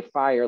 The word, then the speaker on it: fire: say okay well then he wants us to say fire like one syllable because we've clearly got